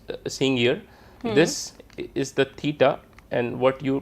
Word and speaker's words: theta: what you are seeing here this is the theta and what you pronounce this as a t h e t a theta this is the to represent the angle